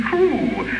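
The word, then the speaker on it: Trew: Meanwhile on, and from monkey do to Stephen Crew. Actually, it's rather nice. It's none of these cars that don't trust me, you see. They've done it in your funny phonetics again. Stephen, T-R-E-W, in brackets, pronounced T-R-O-O-O.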